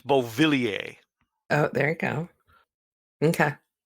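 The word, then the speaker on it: Beauvillier: was that really how you say his name bo Vili a yes really yeah I looked at his name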